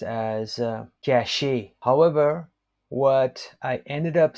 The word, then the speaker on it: cacher: But in French, hiding is pronounced as cacher.